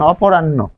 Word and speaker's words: অপরাহ্ন: তাহলে প্রথমবার হচ্ছে, আমরা যদি খেয়াল করি, অপরাহ্ন, প্রথমবার হচ্ছে অল্প প্রাণ, দ্বিতীয়বার মহাপ্রাণ, ফলে এখানে আমরা পাচ্ছি।